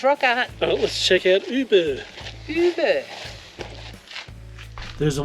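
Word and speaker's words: Ubirr: So we learned from the sign back there, the way to pronounce where we are is Uber. Uber. As in Uber Eats.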